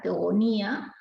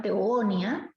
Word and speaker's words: Teogonía: Hesíodo va a crear esta obra, Teogonía, o sin tilde, algunos la llaman Teogonia o Teogonía. No hay problema, cualquiera de las dos son correctas, las dos pronunciaciones.